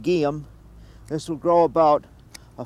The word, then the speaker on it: Geum: This little plant that I'm working on here is called guium.